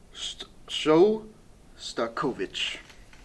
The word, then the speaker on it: Shostakovich: It was Waltz Number 2 by Dmitry how do you pronounce it? Shostakovich.